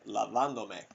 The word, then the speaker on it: lavándome: We want to preserve that original stress, lavando. Okay, that's the tonic syllable. Estoy lavándome. Okay, so we preserve that stress.